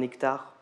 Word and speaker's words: hectare: Tu n'as aucune idée de la taille d'un hectare. Le mot t'inquiète comme tous les mots commençant par un H muet.